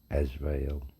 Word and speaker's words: Azrael: Azrael. As well. Azrael. How to spell it?